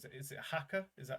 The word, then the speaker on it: Haka: to butcher the name with any sort of pronunciation. Is it Haka?